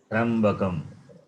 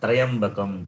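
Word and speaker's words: त्र्यम्बकम्: So it is Trambakam. त्र्यम्बकम त्र्यम्बकः I am saying this, people, they pronounce Trayambakam, Trayambakam, it is wrong.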